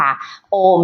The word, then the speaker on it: โอม: เป็น 3 สเต็ป ค่ะ โอม นะ คะ มา จาก คำ ว่า อา อู แล้ว ก็ โอห นะ คะ ตอน ที่ โอห สุด ท้าย ก่อน จะ หมด เสียง คำ ว่า โอห ที่ หมอ มา สะกด เนี่ย ให้ หุบ ปาก แต่ ตรง อา กับ อูเบ ปะ ออก เปิด ปาก ไว้ นะ คะ เพื่อ ให้ เสียง